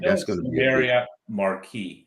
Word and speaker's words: Marquis: That's going to be Marriott Marquis, not Marquise. The S is silent.